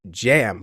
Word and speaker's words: Cem: You guys might call him Kem, C-E-M, but it's actually pronounced Jam, believe it or not.